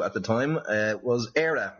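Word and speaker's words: Éire: was referred to at the time uh was era not eerie like you were saying which is i presume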